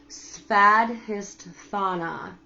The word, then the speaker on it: Svadhisthana: also known as the Svadhisthana. Svadhisthana. Okay? Which, if you think about it, it sounds like Tatiana, and it is your sacral, sexual, creative side.